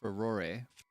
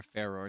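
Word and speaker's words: Farore: And the original goddess for this one is called Ferore or Fore depending on how you choose to pronounce it.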